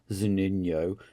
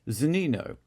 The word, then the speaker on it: Zunino: He's not Zunino, he's Zunino.